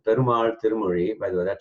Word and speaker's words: perumAl: For example, perumAl, this capital A is an elongated vowel. This L, the capital L, is la instead of la, for example.